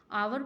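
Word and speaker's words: hour: N after N आर और सो, after N आर, ये pronunciation जो होगा ना इसका आर होगा, आवर बोलते हैं, आर आर भी बोल सकते हैं, आवर आवर आवर बोलते हैं इसको, आवर होगा। तो 1 घंटे के बाद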